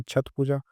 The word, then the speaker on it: छठ पूजा: नाम देखिए छट पूजा इसे आप ऐसे ही प्रोनाउंस कर सकते हैं कि छत पूजा तो छत के ऊपर